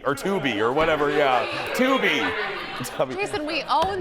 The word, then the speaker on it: Tubi: Tubby or Tubi or whatever, yeah. Tubi.